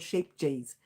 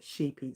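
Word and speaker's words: Scheepjes: It's called sheep G's, but it's called it's actually pronounced sheepies.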